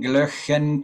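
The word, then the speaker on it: Glöckchen: Kling, glöchen, kling. Kling, glöch, glöchen, kling. Helps if you make a face. So watch my pronunciation.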